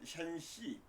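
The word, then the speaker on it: 山西: 산서 산동은 샨뚱이라고 그러고 산서는 샨시 산시 이렇게 얘기하는데 중국 발음으로 산동에는 상이 재상이 나타난다.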